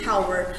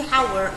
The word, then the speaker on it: hour: مثلا یه کلمه که من تاکید کردم hour یه میگیم hour. اگر شما به اشتباه این کلمه رو یاد گرفته باشه hour انتظار دارید تو listening